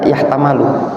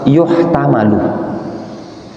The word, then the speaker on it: يحتمل: Anak tadi tidak baca yahtamalu, yuhtamalu. Ya, yuhtamalu.